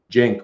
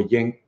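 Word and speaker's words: Cenk: But yeah, the thing of whether you say a hard sound like Chenk Uyghur or Jenk or Yenk Uyghur, I think that kind of depends where you're from and your accent, because people pronounce names differently all over the place depending on their local accent.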